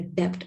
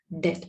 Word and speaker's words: debt: a debt we don't pronounce it as a debt we pronounce it as a debt the borrowed money we call it as a